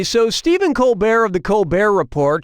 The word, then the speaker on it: Colbert: Okay, so Steven Colbear of the Col Bear Report changed the pronunciation of his name from Colbert to Colbear and that's how he became rich and famous.